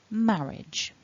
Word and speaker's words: marriage: break in syllables and the mark on the top left in blue tells us that the first syllable is the strong the stressed syllable marriage marriage so focusing on that first syllable then we've got the m the ah and the r which together become ma and then we've got our edge at the end the short vowel e and then the j